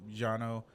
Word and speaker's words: Cano: orano or right and but is the actual pronunciation is um Jano but just something to throw out there oaner